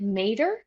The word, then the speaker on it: Mader: Is it Mader? Is that It's how you Mader.